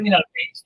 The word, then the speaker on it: Miralpeix: No sé si pronuncié bien tu apellido, la verdad. Sí, perfectamente. Miralpeix, perfecto.